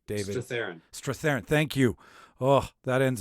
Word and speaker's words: Strathairn: I never pronounce his name correctly. David Strathairn.